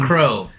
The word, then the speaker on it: Crowe: Crowe. Yes. With an E. The E is silent. It is, yes. I hope it definitely Crowe. Is. We're not saying Crowe. We're definitely not saying We're not French.